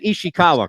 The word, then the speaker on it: Ishikawa: You say you said Ishikawa, correct? Yes. Yep.